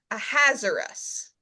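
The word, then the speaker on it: Ahasuerus: So the pronunciation that comes to us through the Hebrew is a hazardous almost like you're saying it's hazardous.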